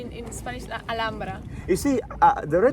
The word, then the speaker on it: Alhambra: Actually, Alhambra we say in Spanish Alhambra. You see, the red Like color, H, it you call doesn't rojo, pronounce.